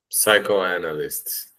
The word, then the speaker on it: psychoanalyst: Psychoanalyst, dude. Perfect. Psychoanalyst. Psycho. That's it. Yes. You don't say the P, right?